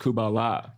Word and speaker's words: Kabbalah: It's actually pronounced Kubala. It's halfway between Kumbaya and Kabbalah.